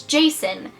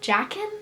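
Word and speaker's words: Jacin: really close with winter and his name is Jason and his name is spelled j a c i n and it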